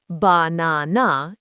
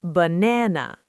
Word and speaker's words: banana: For example, the word banana. The first and last a are reduced to the schwah. It's not banana, it's banana.